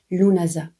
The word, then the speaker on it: Lughnasadh: Oui, parce que même si ça s'écrit Lughnasadh avec plein de S, de D, de H, ça se prononce vraiment Lughnasadh.